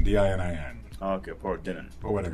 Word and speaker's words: Dinin: How do you pronounce the name? Paul Dinin, D-I-N-I-N.